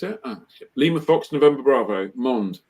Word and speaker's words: Mende: Lima Fox, November Bravo, Mond, Mende, pronounced as if you were if it was spelled in English, it'd be Mond. Is how you pronounce it, Mond.